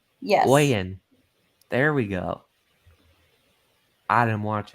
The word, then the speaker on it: Oyen: Oh, it looks like I finally pronounced something wrong. Oh yeah, So Bobby Oyen? says Oyen. Yes. Oyen.